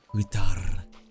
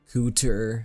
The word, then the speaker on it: Kutar: She's like, Kutar. Kutar. She, like, rolls her R's.